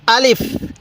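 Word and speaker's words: ألف: হরফটির নাম হলো আলিফ আরেকবার বলুন আলিফ আলিফ টান দিবেন না আলিফ এরকম ভাবে শিখবেন এরপরে বলবেন এই হরফটির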